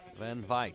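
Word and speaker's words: Van Wyk: Charles and Sarah Van Vyk and this horse. How's my pronunciation of that one, Harry? Van Vyk, yeah, I reckon it's baie lekker.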